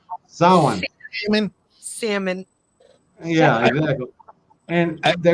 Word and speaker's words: Samhain: You know, not pronounced Samhain, bitches. Samhain.